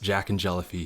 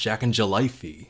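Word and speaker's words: Jacknjellify: bobs, but I really like how it says pronounced Jack and Jellyfy here, because that is wrong. It's pronounced Jack and Jellyfy.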